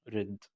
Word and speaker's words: read: الماضي من read هو نفس الكلمة بس الاختلاف في النطق read.